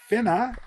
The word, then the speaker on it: Finnas: His name is Finna. Is it good pronounced?